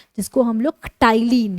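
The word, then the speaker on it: ptyalin: किसकी मदद से, सैलिवरी अमाइलेज की मदद से, जिसको हम लोग टाइलिन, यानी कि पी यहाँ पे साइलेंट होता है, टाइलिन भी बोलते हैं।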